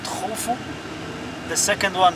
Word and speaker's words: Khufu: This is the right Egyptian names. Some people say the Greek name, which is Cheops, Kefren, Menkerinos. But for the ancient and right Egyptian pronunciation, Khufu, Khafra, Mankaura.